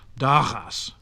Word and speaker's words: dagas: Between such vowels as A, O, and U, it had an open sound like that of G in some modern Dutch words. So dagas, days, vogel, fowl. But before and between I